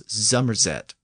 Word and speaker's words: Somerset: England where you'll hear the region of Somerset pronounced as zeret I'll look a little